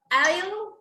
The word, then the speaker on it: aisle: most of the time most of the time the letter s is not pronounced in this type of words such as in an